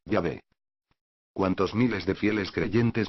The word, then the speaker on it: Yahvé: Y que por lo tanto, el nombre correctamente pronunciado, y escrito del Dios bíblico, debería de ser, a partir de ese instante, Yahvé.